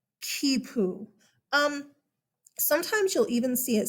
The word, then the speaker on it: quipu: It's easy to look at it and be like, quipu. No, kipu.